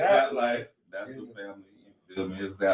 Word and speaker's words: ZapLyfe: You know, it's ZapLyfe.